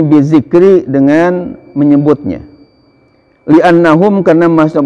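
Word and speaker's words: بذكر: Awas bacanya jangan bizakari, nanti alat laki-laki ya menyebutnya, jangan mentang-mentang wah ini kan gundul Pak Ustadz, Pak Kiai, boleh bacanya seenaknya, enggak boleh. Jadi di sini bizikri, dengan menyebutnya.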